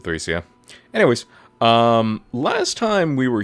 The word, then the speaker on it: Thracia: I know some people have pronounced it Thracia, but I pronounce it Thracia.